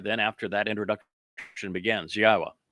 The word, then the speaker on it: Yahowah: The sixth Mizmowr, then after that introduction, begins, YAHOWAH, which is the proper pronunciation of God's one and only name as directed by his Torah teaching regarding our Chaya existence and our Shalom restoration.